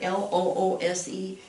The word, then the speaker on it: loose: cannon and you see this word right here l-o-o-s-e we pronounce it loose loose if it just has